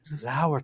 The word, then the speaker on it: Lauer: I'll say, Lauer taught me. So, because spelled like lower.